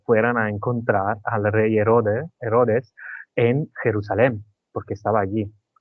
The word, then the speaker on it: Herodes: Todo esto podía pasar en Judea y en aquel momento el rey de Judea era Herodas, ¿cómo se dice? Rey Herodas. Herodes, Ah, Herodes. el rey Herodes, vale, porque nosotros en italiano decimos Herodes.